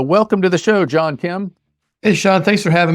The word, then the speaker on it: Kem: And his name is John Kim, and that's spelled K-E-M, and he is the president of the American Battery Factory.